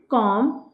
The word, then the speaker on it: comb: क्लाइम, lime, थम, plumber, क्रम, कॉम, lamb. अब यहाँ पे कहीं पे भी बी नहीं बोला जाएगा।